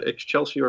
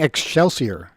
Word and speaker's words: excelsior: guys knew what uh ex chelsea or meant that happens to be the the state motto ever upward you're saying excelsior is there an h in there that i don't know about it's chelsea really what